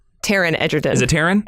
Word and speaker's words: Taron Egerton: pick for Adam strange would be tell me Taylor Edgerton Taron Egerton is a Terran it's Terrance my excuse me